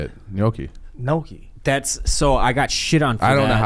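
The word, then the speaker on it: gnocchi: how to pronounce it that g throws me off it's like nooki you saying it correct but I've always called it Noki until recently I always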